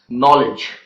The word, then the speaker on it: knowledge: Then we have the words knickers, knock, knowledge, and etc. So these are the words in which the letter K is silent.